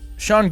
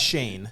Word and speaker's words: Sean: Now, Sean Gillis. Yeah. Not Shane. Shane, are you sure? Yeah, because it's not Shane.